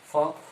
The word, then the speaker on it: folk: ফোক FOLK, কিন্তু এদের উচ্চারণ নাই, ফোক।